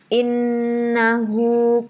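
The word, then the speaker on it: إنّ: Maksudnya tasydid itu kan hurufnya seperti ada dua. Inna. Nunnya seperti double. Yang satu nun sukun, yang kedua nun fathah. Jadi inna. Tapi karena di sini nun bertasydid itu adalah bacaan gunnah, jadi cara membacanya harus dengung.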